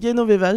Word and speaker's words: Genoveva: Alors qu'on prononce Genoveva, j'ai appris ça récemment.